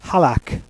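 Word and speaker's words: Halaak: Our selection is Halak, which is spelled H-A-L-A-A-K.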